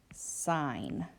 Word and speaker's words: sign: So let's say I have the word sign. If we look at this word, it makes the N sound. The G is silent.